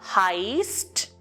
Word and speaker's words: heißt: So ich heiße, du heißt. Here HEI is the stem and we need the ending ST. If ST is added to the stem, the verb is pronounced as heißt with a hissing sound.